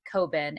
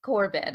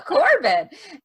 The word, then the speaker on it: Corbin: my first name and how do you say the last name corbin it has r in it right corbin i see the r i guess i'm just not saying it uh corbin and he was the